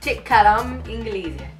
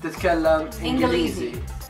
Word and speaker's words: تتكلم إنجليزي: تتكلم إنجليزي. تتكلم إنجليزي. Right. إنجليزي. إنجليزي. Yeah. Okay. تتكلم إنجليزي.